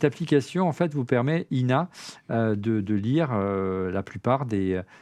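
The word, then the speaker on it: IINA: Alors je sais pas comment on prononce, si c'est LLNA ou c'est INA. Non, c'est INA. On me souffle dans l'oreillette, mais avec 2 I, comme l'INA, l'Institut National de l'Audiovisuel, avec 2 I.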